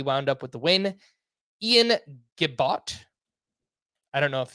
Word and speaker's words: Ian: Ian Gibot.